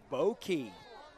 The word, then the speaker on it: Bow Key: But when you start talking about just the city of Sanford, Bow Key rhymes with low key.